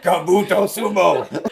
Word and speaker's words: Kabuto Sumo: Kabuto Sumo is how you say that properly.